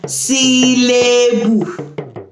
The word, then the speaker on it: sílébù: Okay, sounds like English as well, but with Yoruba letters instead. Okay, so we pronounce ours as sílébù.